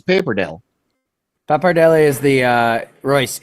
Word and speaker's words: pappardelle: It's easy until you have to try to say Paperdelle? Pappardelle. Oh, pappardelle. You guys are Pappardelle is overcomplicated. It's Paperdelle. Pappardelle is the Royce.